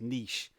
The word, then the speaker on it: niche: America to try and convince people that it's pronounced niche not but you can't say